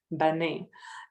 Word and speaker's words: Bane: And one of the elders had my name, Bane. And Bane is a very rare name in my country. It's actually pronounced Ban. It's written the same way, but pronounced Ban.